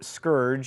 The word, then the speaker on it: scourge: have been sent as a scourge or scourge as it is apparently properly pronounced what I'm from Alabama